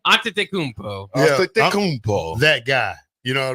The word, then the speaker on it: Antetokounmpo: How do you pronounce that name? Antetokounmpo.